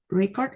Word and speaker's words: record: record and record so record is a noun which has stress on the first syllable for example Ecuador has